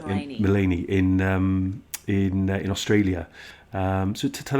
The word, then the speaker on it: Maleny: if I mispronounce it, was it Maleny or Melanie? Yes, Maleny.